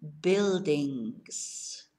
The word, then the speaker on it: buildings: So unos edificios, some buildings. And we spell buildings, it no es nada como ve. B-U-I-L-D-I-N-G-S. So la U, B, because it's B-U, B-U, no pronunciamos. So it's buildings, buildings.